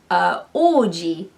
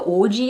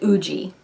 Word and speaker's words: Oji: literally, like taking the Oji example, if I Romanize that as like O-U-J-I, people that don't really know Japanese, when they see that, they're gonna pronounce it Uji, which is incorrect.